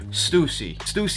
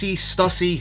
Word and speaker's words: Stussy: We do have some stickers, and this is from the brand Stussy. Stussy, however you guys want to say it. I call it Stussy.